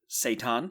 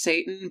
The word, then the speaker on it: seitan: So people with celiacs would not be partaking of seitan. Is that how it's said? Yes, it is. Right, okay. I think it might be pronounced Satan, but that's a different. All right, marketing I was problem.